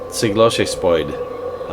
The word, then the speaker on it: Skivlarg: Skivlarg. The pronunciation is actually from the Asper language family.